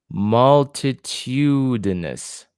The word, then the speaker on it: multitudinous: Okay, so the stress is on tu. Multitudinous. Multitudinous.